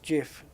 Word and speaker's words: GIF: many times haven't we it's not GIF it's GIF yeah the hard G yeah that with